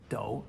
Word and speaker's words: 抖: Recalling that minimal stroke character that meant a dipper, if we put the hand radical in front, it becomes third tone do, to shake due to cold or fear or excitement.